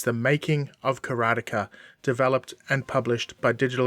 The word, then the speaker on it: Karateka: First up, what is Karateka, or Karateka, as it's supposed to be pronounced?